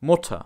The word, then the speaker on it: Mutter: words shawn meaning already and chern meaning beautiful motta muta ah did you hear that the vowel